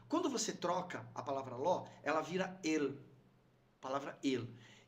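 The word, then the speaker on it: לא: A palavra não, em hebraico, é ló. Você pronuncia como ló.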